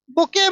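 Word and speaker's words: bouquet: द बुके, बुके मतलब होता है, यहाँ टी साइलेंट है, बुके मतलब होता है गुलदस्ता।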